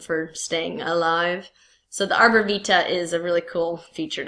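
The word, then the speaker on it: arbor vitae: They call this the arbor vita or vite I guess technically in your Latin pronunciation.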